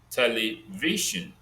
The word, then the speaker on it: television: Television, V is stressed.